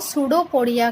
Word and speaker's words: pseudopodia: Irregular body है वो सूडोपोडिया का फॉर्मेशन करती है. सूडोपोडिया किसका फॉर्मेशन करती? सूडोपोडिया. सूडो it means P silent है यहाँ पर.